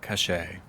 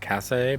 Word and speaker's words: Kaŝe: sponsored by my book the dragon tree of cachet i know some people come in mispronouncing it and they're gonna like say like kaze or cassay but you know it's actually pronounced cache anyway